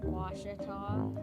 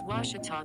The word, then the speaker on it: Ouachita: How would you pronounce it? Ouachita. Ouachita. It's Ouachita Baptist University.